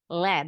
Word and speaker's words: lead: Bacanya bukan lead, jadi lead.